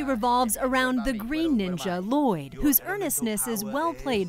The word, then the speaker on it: Lloyd: of Lloyd dad no Lloyd that's right your son and it's Lloyd no ll o yd I named you was la loi on paper was that your